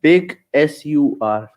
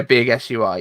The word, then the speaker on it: Big Sur: is it isn't it big sur yeah big sui yeah it's pronounced sir though it's the same no